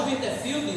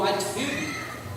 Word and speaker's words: Whitefield: início prosperou depois e George WiFi ou whitefield depende como você quer pronunciar voltou e disse assim